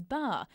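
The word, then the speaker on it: 八: The bittersweet memories of the 1984 Los Angeles Games came flooding back for the then Hockeyroos captain Robin Leggett, who still rides every play.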